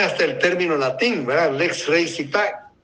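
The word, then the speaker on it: lex rei sitae: Y nuestra ley de norma judicial más claramente, ¿verdad?, pone hasta el término latín, ¿verdad?, lex rei citae, o lex rei cite, como se pronuncia, ¿verdad?, situación de los bienes.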